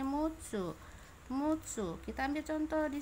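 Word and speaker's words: 六つ: Ini roku ya, secara Ongyomi roku ya, secara Kungyomi dibacanya mutsu.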